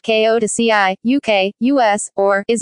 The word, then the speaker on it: Kyoto: Kyoto Kyoto Xi pronounced Ko2 pronounced Ko to CI UK US or is a city located in the central part of the island of Honshu Japan.